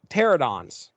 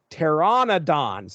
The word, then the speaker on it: Pteranodon: reading this book and I'm saying pteranodons. That is not correct. It is Tyrannodons. There's an N-O in there I was completely missing. But anyway, they come across this trio of hungry Tyrannodons.